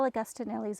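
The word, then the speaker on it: Agostinelli: an idea from get this is augustanelli's idea that's that's better that's how you say it Shala Okay so clear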